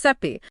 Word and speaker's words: Sappe: It's created by David Sappe. Pronounced Seppi. Pronounced Seppi.